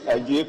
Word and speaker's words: Adjei: My name is Ajay Kwesi, Member of Parliament for New Jabino. But the Ajay is spelled wrongly. My Ajay is ADJEI.